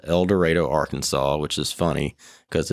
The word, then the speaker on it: El Dorado: from so I am from a town called elor Arkansas which is funny because it's you know spelled Eldorado n AR most people think it's El Dorado